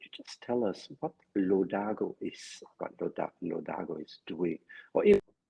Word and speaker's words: Lodago: just tell us what LO Dargo is doing correctly yeah you pronounce it correctly and as it